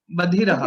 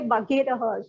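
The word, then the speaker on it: बधिरः: Badhiraha. Is it Gha or Dha? Dha, Badhiraha. Okay, because I used to say Bhaghiraha, so I will correct my pronunciation.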